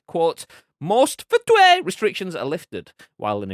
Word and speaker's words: FTUE: user experience blizzard said ftue is how it's unofficially pronounced by the way um uh blizzard said footwear is designed to gradually